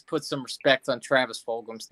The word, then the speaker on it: Fulgham: Could you pronounce his name right? Fulgham. You said Fulgham.